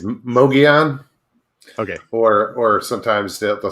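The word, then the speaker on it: Mogollon: chat guys go ahead is it is it mongolian monster is that what it how you say it okay it's mogeon okay or or sometimes they'll say muggy on okay um but i always pronounce it mogeon and it's it's arizona's bigfoot just like the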